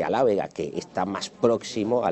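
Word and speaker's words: alábega: Por ejemplo, en castellano es albahaca y bueno, pues en las tierras murcianas se dice alávega, que está más próximo a la lengua árabe original, aljápica, que el mismo albahaca.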